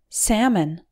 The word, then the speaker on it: salmon: gidge mortgage number nine salmon salmon is a type of fish the first syllable s al sounds like the sac in sample the L is silent and the second syllable